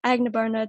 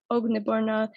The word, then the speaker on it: Agnibarna: It's sad that we focus on that convenience sometimes, especially because it's not necessarily that hard to pronounce a name right? Switching from like Agnibarna to Ognibarna is not a huge difference.